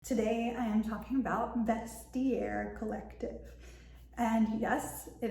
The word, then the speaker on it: Vestiaire: Today I am talking about vestier collective and yes it is pronounced vestair like vest air. Um I used to say vestair that's not right. It's vestier.